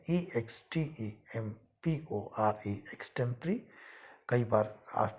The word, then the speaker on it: extempore: किसी तैयारी के, तो उसको हम इंग्लिश में एक्सटेम्परी बोलते हैं। स्पेलिंग है EXTEMPORE, एक्सटेम्परी।